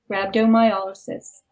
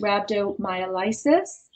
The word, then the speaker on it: rhabdomyolysis: a state called rabdo rabdo mysis it's often incorrectly pronounced rabdom myisis but when you look at the structure of the word it's yis like paralysis and not like Crisis Isis but it does